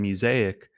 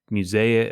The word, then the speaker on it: Mosaic: No, but much like my brand Mosaic, people mispronounce it. They're like Musea, or I don't even know how they say it, but they just say it all these different ways, and I'm just like, oh, it's called, they call it Muzak, and I'm like, Muzak, like, no.